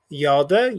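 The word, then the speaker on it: ילדה: Okay, so number one, we have yalda. You see it's those two syllables.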